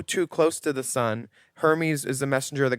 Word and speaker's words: Hermes: Uh it's pronounced Hermes.